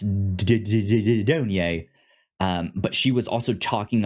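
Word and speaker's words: Dunye: Because I was like, I wasn't sure if it was Dune. Like, is that like, how do you pronounce that Y in the end of her name? And it's Donye.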